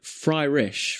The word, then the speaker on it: Fryish: Luck of the Fryish or Luck of Fryrish? Fryrish. Well, it's spelled Fryish. Fryish. So Fryish. Fryish.